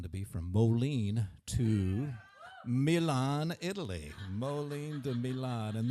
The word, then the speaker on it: Milan: I think they came from, I know how to say it, Milan.